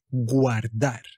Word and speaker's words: guardar: guardarla so guardar Yes Always pronounce the u do not Say okay guardar means to